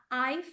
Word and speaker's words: I've: I've, You. you've, She. she's, he's, it's like the verb. Okay. With, Dave. It's like a v, es como una v.